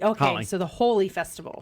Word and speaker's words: Holi: correct you but it's it's pronounced holy h-o-l-i so what did i say oh holly okay so the holy festival right okay sorry